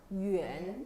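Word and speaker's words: 远: 원 발음 어떻게 나요? 유엔.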